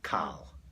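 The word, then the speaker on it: קל: Kal.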